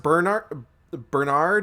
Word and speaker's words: Bernhard: I'm sure it's supposed to be pronounced Bernard or Bernard, but there's an H in there, so I like to say Bernhard.